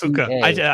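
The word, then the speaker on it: Puca: Yeah, Puka. I pronounce it Puka.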